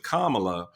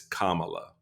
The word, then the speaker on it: Kamala: right on my party learn how to say her name because we get the gaslighting that you're doing when you call her something other than her name is it's Kamala all right put the accent on the right salable you'll be